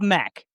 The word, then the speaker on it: Mac: And, the beginning of his name begins with an MC, so it looks like a Mick, but it is, you pronounce it as a Mac.